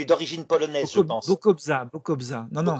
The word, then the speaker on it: Bokobza: de moi Hervé e B alors ça se prononce difficilement bokska tu es d'origine polonaise je pense Bokobza Bokobza non non B hongrois ça a une